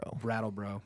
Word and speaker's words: Brattleboro: as I can in Brattleboro? Is that how you say it? Brattleboro. My bad. Brattleboro. Tongue twister.